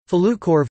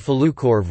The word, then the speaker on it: Falukorv: Falukorv, Swedish pronunciation, squared fl krov, is a Swedish sausage, korv